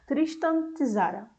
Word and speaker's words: Tristan Tzara: E quem fez essa receita foi aquele poeta que eu estava falando, Tristan Tzara. Eu acho que é assim que se pronuncia.